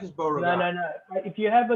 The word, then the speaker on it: Beauregard: 1 is Villes, 2 is the Savigny Peuillets, 3 is Beaugerard. Beauregard, you idiot.